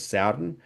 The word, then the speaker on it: Sowden: I mispronounced that last week. Commentators pronouncing it as Sowden.